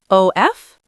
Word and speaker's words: of: And of, O-F, Becomes of, or sometimes just a. cup of tea.